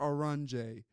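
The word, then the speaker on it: Oranje: Or Aron as it's pronounced in Dutch.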